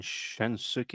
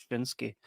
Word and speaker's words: Shinsuke: But the guy's name's not even Shinsuki. It's Shinsuke.